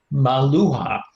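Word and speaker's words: Meluhha: Mesopotamia actually called them a name which I believe is best can be pronounced as Maluha.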